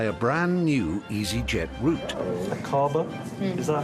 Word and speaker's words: Aqaba: Akaba? Is that how you would pronounce it? Yes, Akaba.